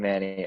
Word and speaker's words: Manni: it's like the first name, Manny.